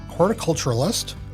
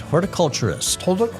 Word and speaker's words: horticulturist: County is that right is it hard because it's sort of culture and not Horticultural so you are correct horticulturist that's a less one less syllable horticulturist is super well